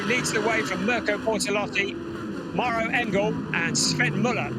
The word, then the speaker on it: Bortolotti: He will be attempting to catch Bertolotti snoozing. And Mirko Bortolotti, good pronunciation, in 2nd place, does just that because Ricardo Feller has got the jump on Mirko Bortolotti in P2.